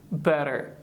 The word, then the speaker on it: better: say like better better we have tea between two vowels so that's how we have to pronounce like d better so uh I